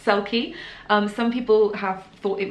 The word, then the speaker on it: Selkie: i just said it it's pronounced sulky some people have thought it was called silky yeah and then some people who've read it and so all selfie it's not it's called sulky and the reason we